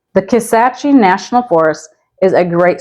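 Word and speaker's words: Kisatchie: next up we have you may be tempted to say Ki or kace but it's pronounced kace the kace national forest is a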